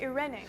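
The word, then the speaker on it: εἰρήνη: En griego In Greek, se lee eirene. it's pronounced Irene.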